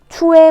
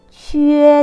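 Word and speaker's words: que: 치 발음과 유에가 붙었습니다. 이렇게 붙어요. 추에 뭐 이런 발음 아닙니다. 취에 되는 거예요.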